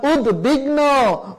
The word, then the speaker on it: উদ্বিগ্ন: যদি উদ শব্দের সাথে ব ফলা যুক্ত হয়, যেমন উদ্বিগ্ন, উদ্বেগ, উদ্বৃত্ত, এই যে উদ শব্দের সাথে ব ফলা যুক্ত হলে সে ব ফলা উচ্চারিত হবে।